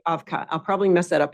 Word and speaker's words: Avkha: Foster founder of and how do you pronounce evic afka afka yeah thank you afka I'll probably mess that